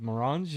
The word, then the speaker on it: Maranjo: It looked a little French, so I went with the uh French pronunciation.